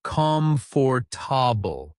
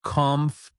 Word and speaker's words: comfortable: In natural speech, it is not pronounced as comfor. It becomes conf.